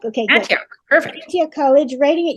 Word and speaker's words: Antioch: She took a degree in history and education from, I always pronounce this wrong, Antioch? And how do you say it? Antioch? Okay, good. Antioch, perfect.